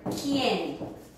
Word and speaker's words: quien: Or the word quien, who. After a Q, then the U in Spanish is silent.